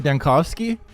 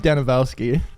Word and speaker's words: Dankovsky: Bachelor Dankovsky? Yeah, not Danilovsky. I went all the way through Pathologic 2 calling him Danilovsky. I added like a whole syllable worth of worth of letters and nobody said anything.